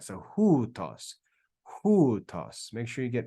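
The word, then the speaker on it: οὗτος: Now, this is kind of weird because in Greek, we pronounce this diphthong as oo. Now, it's not ohutos. I'll type it. It's actually pronounced as hutos, hutos, hutos. Okay? So that diphthong, omicron, upsilon, is pronounced as oo. Ooh, and it's got rough breathing, so it's hu, hutos, hutos.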